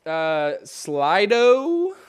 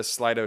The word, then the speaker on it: Slido: I have a few prepared questions that I'll probably ask, but you can also use this Slido, I think is how you say it, S-L-I-D-O.